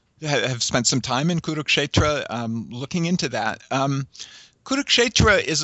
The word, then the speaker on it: Kurukshetra: So you're dealing with a text that's connected to an identifiable geographical location, and correct me if I pronounce this wrong, but Kurukshetra? Kurukshetra, yes.